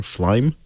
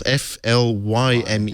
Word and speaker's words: Flyme: But I think Meizu have done something quite innovative with their operating system, which is called Flyme or Flyme, depending on your pronunciation. Is it spelled Flime? It's Flyme.